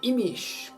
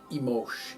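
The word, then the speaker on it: Imix: Everyone born on Imish, called Imosh in Guatemala, has Manik, Kech in Guatemala. Manik is the Yucatecan pronunciation.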